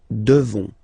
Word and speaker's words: devons: Okay, you just pronounce this on, this nasal. Okay, and then the S, final S is not pronounced. Nous devons.